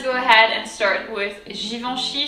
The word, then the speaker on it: Givenchy: and start with givenchy so here it's fairly easy still i would say there's a little of a complication in the e n sound but other than that it really shouldn't be too bad um so let's go